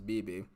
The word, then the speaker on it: BB: I've been saying Bebe because, I like Bebe's kids and all that, but the correct way to pronounce it is BB.